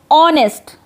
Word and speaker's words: honest: In the same way, honest. H-O-N-E-S-T. Honest. H is silent. And the sound of O is coming.